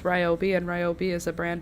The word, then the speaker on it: Ryobi: Julia calls Toby Ryobi because Toby rhymes with Ryobi and Ryobi is a brand of tulle and that's that's that's the reason the reason for the season.